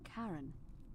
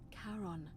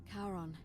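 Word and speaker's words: Charon: as you described it only your pronunciation is a little off the name you heard wasn't karen it was c-h-a-r-o karen ah caron the ferryman of the dead karon who in exchange for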